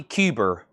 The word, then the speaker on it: Cuber: at the Blue Note Ronnie Cuber as in Ice Cube and Ronnie Buridge as in barriage of cannon fire or barrage.